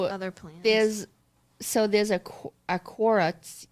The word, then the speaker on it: Quora: There's a Quora. How do you pronounce it?